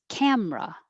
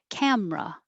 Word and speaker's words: camera: it won't move down camera just drop that middle e make it two syllables camera same with 16 vegetable